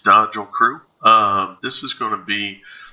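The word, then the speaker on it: Dajl Crew: This is Dodgel Crew, D-A-J-L Crew, pronounced Dodgel Crew.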